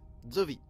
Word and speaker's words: Szovi: de tourmente bonjour j'ai madame de vide mes djovi ça se prononce dieu comme l'on prononce zoo qaïda mais